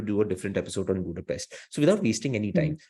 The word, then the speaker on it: Budapest: when I realized that the locals we say Budapest but the locals say Budapest and it's a very sweet way of uh speaking and I I love the pronunciation and I try to do it every time of course sometimes I